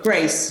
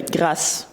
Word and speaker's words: Grâce: Grace. Grace. It's pronounced the French way. Grâce.